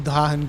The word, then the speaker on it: Drachen: in a weird way, this is the proper way to pronounce Drachen. It is a German word, and therefore I try to pronounce things correctly.